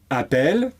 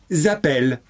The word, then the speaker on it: appelle: Ils, elles appellent. Et donc, la question, c'est quand faut-il écrire 2 L ou un L? S'il y a 2 L, c'est que le E qui suit est muet.